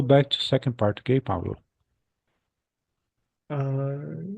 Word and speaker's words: Pablo: Uh, what's the real pronunciation for your name, please? Pablo. Pablo.